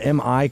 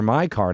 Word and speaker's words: MI card: Um, Ralph Peron, Tracy Campbell, Ralph the founder of uh, MIC card. I keep saying MI. It's my card. Sorry. My card. It's my card, not your card. Uh, but it is spelled MI card.